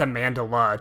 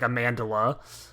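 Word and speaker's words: Amandla: it I think it's amandala too it's not even Amanda it's like amandala um I knew she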